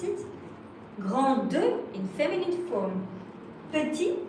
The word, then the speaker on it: petit: Petit, that is a T, you don't pronounce it.